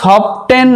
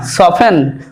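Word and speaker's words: soften: তারপর দেখো সফটেন নয়, সফেন অর্থাৎ নরম করা বা কোমল করা।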